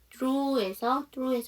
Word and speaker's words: through: through에서 gh 묵음이죠.